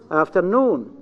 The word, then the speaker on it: afternoon: No. Afternoon. This is the correct pronunciation. Afternoon. The stress is in the second.